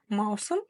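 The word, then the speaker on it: маусым: нас летние месяцы существуют ма у см Маусом июнь ма Мау Мау прочитали Да и второй слог см см у нас написана буква она читается как вы уже поняли и догадались очень и очень коротко как будто бы её нет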